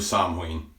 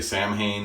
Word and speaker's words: Samhain: A lot of people want to say Samhain, but it's not the right word. It's not an English word. It's an old word.